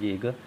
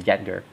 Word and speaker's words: Jaeger: Then we have Borrow Warden Jaeger, I think it's Jaeger, Jadgr, Jaeger. I'll pronounce that as Jaeger rather than Jadger.